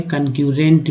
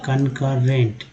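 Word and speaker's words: concurrent: जैसे कि यहाँ वर्ड है कनकरेंट, ठीक है, कनकरेंट लिखा हुआ, तो यहाँ पर आप पढ़ सकते थे कनक्यूरेंट भी, तो कनकरेंट यहाँ पढ़ेंगे कनकरेंट, ठीक है।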